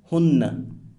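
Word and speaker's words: هنّ: It's important to note that Arab grammarians consider pronouns, for example, he, pronounced huwa, she, pronounced hiya, they, pronounced hum or hunna.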